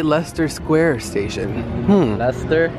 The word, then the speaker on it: Leicester: why does it say Leicester Square station hmm that's there yes how you pronounce it I think it's pronounced Leicester let me know in the comments down below UK people I think it's Lester Hey look at the